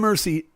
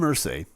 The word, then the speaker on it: Irsay: four and i have 4.5 million dollars jim mercy paid jim irsay i should get his name right if he's